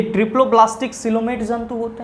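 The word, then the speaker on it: coelomate: भाई मेरे इसको कॉलेमेट नहीं पढ़ेंगे, सिलोमेट पढ़ेंगे, क्योंकि यहाँ पे आपका जो प्रोनाउंसिएशन है या फिर जो मीनिंग लिखा हुआ है वो क्या है सर, गलत है। तो आप थोड़ा सा यहाँ पे मैनेज करेंगे, इसको आप सिलोमेट पढ़ेंगे तो तीसरा ऑप्शन भी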